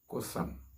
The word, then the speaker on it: قثم: Islam, and that name in the Arabic is pronounced Cothum.